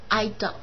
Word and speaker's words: adult: 下面这个词读音的时候呢，光盘的读成是 adult，我们习惯读成重音在前面 adult 啊，成年人啊 adult。